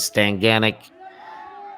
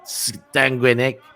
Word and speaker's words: Stanguinec: these French names, but I know that I've definitely pronounced Stanguinec as Stanganic in the past as well. So that is the same person that you might hear as Stanganic. But Stanguinec, I believe, is a more accurate representation of that young man's name.